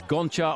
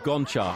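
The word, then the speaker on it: Gonchar: himself actually calls himself goncha and he would like us all to accept that I think it's the way you pronounce the G in his language it sounds like an H but there we are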